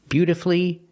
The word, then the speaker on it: beautifully: The U is silent in these three words: masterfully, beautifully, and wonderfully.